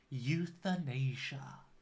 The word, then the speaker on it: euthanasia: on well done it is euthanasia okay the pronunciation is quite difficult isn't it so we would sayia euthanasia okay so euthanasia very controversial thing usually when